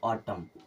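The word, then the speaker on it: autumn: आया मतलब ए खत्म इसे क्या पढ़ते हैं ऑटम क्या पढ़ते हैं ऑटम डी ए एम एन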